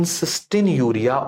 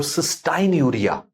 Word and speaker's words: cystinuria: So in cystinuria or cystinuria, pronunciation is two types. Yes, you may say it cystinuria or cystinuria.